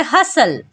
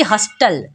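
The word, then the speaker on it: hustle: silent तो पढ़ेंगे कैसल जैसे हसल यहां पर भी टी एल से पहले आया है तो टी होगा साइलेंट तो पढ़ेंगे हसल ना कि हस्टल जैसे वॉच यहां पर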